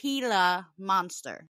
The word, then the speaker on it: Gila monster: It's a Gila monster. Thank you, Sherry. Sherry looked up the pronunciation, so it's pronounced Gila monster.